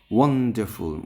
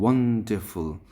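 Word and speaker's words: wonderful: ওয়ান্ডারফুল, ওয়ানের পরে আমরা স্ট্রেস দেব। ওয়ান্ডারফুল।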